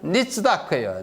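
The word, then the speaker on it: נִצְדַּק: 그 다음에 요 단어는 니츠다크예요. 니츠다크 이렇게 읽습니다.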